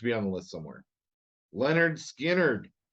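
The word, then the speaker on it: Lynyrd Skynyrd: it deserves to be on the list somewhere Leonard Skynyrd pronounced Leonard skinnered I like early Leonard Skinner but I'm I'm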